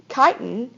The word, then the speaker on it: chitin: Chitin, which is not, it's pronounced, the CHITIN word is pronounced chitin, makes up the cell wall of fungus.